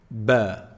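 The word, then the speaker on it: ب: The second letter, ba. Ba. How do we say ba? Ba is pronounced when you bring both lips together.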